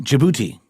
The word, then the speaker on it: Djibouti: Algeria aeran Bosnia uh Djibouti jibou yes that's the D is silent Egypt Ethiopia Gambia Israel